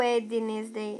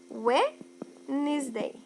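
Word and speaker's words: Wednesday: disse para vocês que a letra D da palavra weenes de quarta é uma letra silenciosa ela existe na escrita mas na fala ela não é pronunciada então eu não falo ednes de eu falo direto ué Nis Day sem o Day Vamos para o próximo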